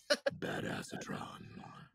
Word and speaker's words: Badassatron: The one I'm floating right now is Badassatron, which is actually pronounced Badassatron.